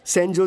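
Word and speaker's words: Sanjose: लेकिन इसमें जे साइलेंट रहता है। इसलिए इसे सैनोजे बोलते हैं।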